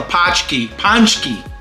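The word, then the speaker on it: paczki: don't know what this is this is a pki ponki it's spelled p a c z k i and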